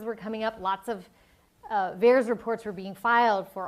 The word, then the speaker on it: VAERS: But the favorite parallel database is this Vaccine Adverse Event Reporting System, or VAERS, rhymes with bears.